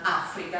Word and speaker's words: Africa: chiama suleiman detto suleiman Africa perché lui pronuncia con la dopp F quindi è suleman Africa Sofia la rossa ci